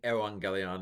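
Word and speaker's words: εὐαγγέλιον: I hear mixed among these young guys as to whether to pronounce it evangelion or evangelion. I think evangelion is probably that's the one I'm going to go with, is more likely at the time of Christ.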